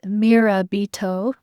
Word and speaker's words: Mirabito: And just to let you know which one I'm using the Lantern Oracle by Angelina Mirabito. I believe that's how you pronounce her last name. It looks Japanese, but it's Mirabito if you need to spell it out.